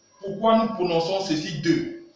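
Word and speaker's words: deux: Parce qu'en français, EU, X, se prononce comme EU, se prononce E. Donc, ici nous avons E, nous avons aussi ceci qui se prononce E, ceci aussi se prononce E. Voilà pourquoi ici nous prononçons ceci 2.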